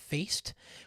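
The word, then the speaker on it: Faist: i have notes um mike faced faced i think his name that's how he pronounced his last name mike feist who plays uh riff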